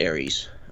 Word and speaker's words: Ares: We pronounce it Ares.